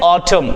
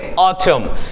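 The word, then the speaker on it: autumn: इसको हम कहते हैं एटम ये जो एन होता है वो थोड़ा साइलेंट होता है तो इसको हम पढ़ेंगे ऑटम नेक्स्ट है बच्चा बच्चे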